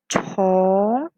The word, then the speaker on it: 从: Ini bacanya chong, artinya dari.